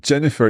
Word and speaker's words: Jennifer: International like Jennifer Jennifer so Jennifer you're you're using a almost a j s the same as it would be in English exacto there's a slightly